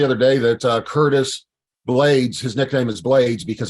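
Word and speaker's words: Blaydes: name okay he's like plus it rhymes with his last name blades blades so before we get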